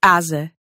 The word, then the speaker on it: asa: The one case in which you're going to switch over to a voiced Z sound is when you see a lone S in between two vowels. That gives you words like asa and rosa.